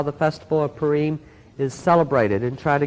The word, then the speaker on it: Purim: It is correctly pronounced in Hebrew Purim. Pur means lots or dice. Im is plural. But it has been the custom, even in Israel, to call it Purim.